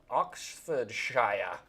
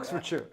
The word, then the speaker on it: Oxfordshire: Actually, maybe he lives in uh Oxford Shia. I've been working on my English accent. Oxfordshire.